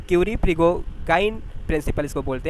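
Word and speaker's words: Prigogine: अगला पास्टुलेट है the Curie प्रिगो, ये नाम देख लीजिए थोड़ा सा, प्रोनाउंसिएशन इसका क्या है? क्यूरी प्रिगोगाइन प्रिंसिपल इसको बोलते हैं।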